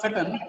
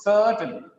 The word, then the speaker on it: certain: Objected the use of certain, it's not certain, certain. It's a long sound, certain objects.